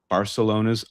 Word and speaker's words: Barcelona: I think both of them recently pronounced it Barcelona. So, I think that's let us off the hook of saying it with this weird th thing that came from uh the king with the lisp.